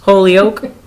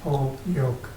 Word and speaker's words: Holyoke: Anybody going to What's- Holyoke?